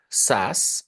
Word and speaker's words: SaaS: Now we have a term called SAS S A S that's how we pronounce and the full form is software as